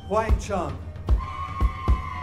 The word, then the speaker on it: Huang Chung: Huang Chung.